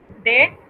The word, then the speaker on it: des: Y de los se dice de con sonido abierto. Esa S no se pronuncia a menos que encontramos un caso de liaison, ¿verdad?